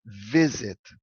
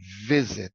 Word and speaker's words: visit: O verbo visit é um verbo com duas sílabas, e o sílaba tônica é o penúltimo, é o primeiro sílaba. Então é visit, alright? O verbo é pronunciado assim, visit. Então é o sílaba tônica é no vi, visit, alright?